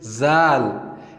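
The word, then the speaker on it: ذال: The previous letter was dal, and this one is zal. And if we compare it with English letter, we can say that it sounds like Z. And in Arabic, we pronounce it zal, zal, zal, zal, zal, zal.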